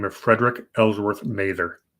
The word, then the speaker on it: Mather: name of Frederick Ellsworth Mather or Mather I believe it's pronounced Mather and they've got some